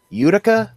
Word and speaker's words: Utica: We were passing near, and I'm not sure how to pronounce it correctly, Utica or Utica? No, you got it right the first time.